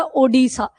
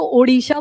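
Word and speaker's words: Odessa: India India मैंने बोला ओडसा हम तो ओडसा बोलते हैं ना ओ डी ई एस एस ए ये स्पेलिंग है उसकी वो यूक्रेन में लोकेटेड है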